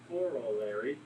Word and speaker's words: corollary: The corollary to the triangle sum theorem, How do you say it like that? because I can't say it well, so I have to say it slow. Just think of Coraline.